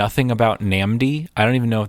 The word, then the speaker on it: NNAMDÏ: absolutely nothing um also I'm going to say namdi there's an actor named namdi asamoah yeah and that's how he pronounces his name so I'm gonna go with that okay um oh do